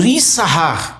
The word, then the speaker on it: Issacar: Então, a tribo de Issacar, ou Issahar, como é a pronúncia hebraica.